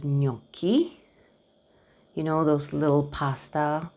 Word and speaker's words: gnocchi: First with GN, it's pronounced like almost like a soft N, sort of, from what I understood. Of course, I'm not a specialist, you know that. Okay, and the word is gnocchi.